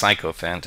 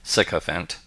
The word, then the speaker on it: sycophant: is sycophant although i do occasionally hear it pronounced psychophant it should be pronounced sycophant a sycophant is universally considered a bad word